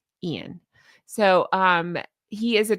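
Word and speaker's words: Iain: His name is spelled I A I N Rollinsson. And I believe they referred to him as Ian.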